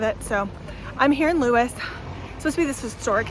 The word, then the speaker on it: Lewes: talk again um i made it to louis that's actually how it's pronounced and the other town